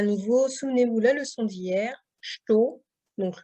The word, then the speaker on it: estou: Donc là, à nouveau, souvenez-vous la leçon d'hier, estou, donc le OU de estou qui se prononce bien O et pas OU. Hein.